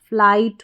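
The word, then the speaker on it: flight: GHT को हम ट पढ़ेंगे, जैसे कि कुछ स्पेलिंग्स है इनमें FLI को फ्लाई पढ़ेंगे, और GHT कोड हो गया तो ट, फ्लाइट हो गया, फ्लाइट का मतलब होता है उड़ान।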